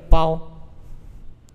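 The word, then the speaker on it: 勹: 寒，下一个包，它通这个包。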